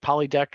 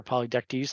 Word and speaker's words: Polydectes: So the big problem was that his brother, with Polydect or Polydectes, depending on the way you pronounce it, falls for Danae.